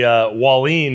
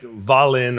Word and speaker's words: Wahlin: wrong my whole life we say wha lean in in the US and I come here and it's like Valen or someone looks something